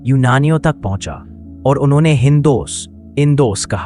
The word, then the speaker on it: हिंदू: उसी समय फारस, ईरान के लोग इस नदी को हिंदू बोलते थे। फारसी भाषा में स का उच्चारण कई बार ह की तरह हो जाता है। इसलिए सिंधु धीरे-धीरे हिंदू बन गया।